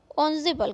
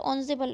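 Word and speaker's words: ensemble: ठीक है, EN ज़रूर है बट ऑन्जेबल हम इसको प्रोनाउंस करेंगे। ओके, यहाँ पर वर्ड मीनिंग दिए हुए हैं, ऑस्पिशियस दिया हुआ है, इंडिस्पेंसिबल दिया है। देखिए यहाँ पर ये लिखा हुआ है इंजेम्बल्स लिखा हुआ, बट प्रोनाउंस्ड ऑन्जोबल।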